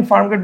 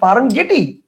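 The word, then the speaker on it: Farm Gate: জি এ টি ই যদি আমরা এভাবে উচ্চারণ করি যে একচুয়াল অনুসারে উচ্চারণ করি তাহলে কি হবে তাহলে উচ্চারণ হবে ফার্ম গেটি so this is নট ফার্ম গেটি this is ফার্ম গেট so definitely এটা হবে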